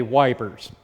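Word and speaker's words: Ypres: British weapon first action EP Le this word is pronounced ep the British say wipers so a lot of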